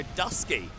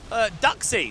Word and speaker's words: Duxie: Oh, McMidget getting absolutely wrecked by Dusky. Duxie. Sorry, Duxie. I'm mispronouncing your name, Duxie.